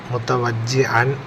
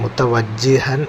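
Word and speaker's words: مُتَوَجِّهًا: ചില കുട്ടികൾ മുത്തവജ്ജിഹൻ എന്നത് മുത്തവജ്ജിഅൻ എന്ന ഐനായിട്ട് പറയലുണ്ട്. അപ്പോൾ നമ്മൾ മദ്രസയിലൊക്കെ കുട്ടികളോട് ഉച്ചാരണം തെറ്റുന്നതാണോന്ന് അറിയാൻ വേണ്ടി നമ്മൾ കുട്ടികളെ കൊണ്ട് എഴുതിച്ചു നോക്കുമ്പോൾ അവരെഴുതുന്നതും മുത്തവജ്ജിഅൻ എന്ന് തന്നെയാണ്. അത് പ്രത്യേകം ശ്രദ്ധിക്കണം. മുത്തവജ്ജിഹൻ എന്നാണ്.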